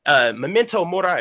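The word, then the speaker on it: Memento Mori: find that amazing for memento morai right is how you say it okay awesome but to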